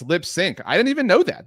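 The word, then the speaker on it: Lipps Inc.: Um Oh, it's LipSync. I didn't even know that that it was pronounced lipsync.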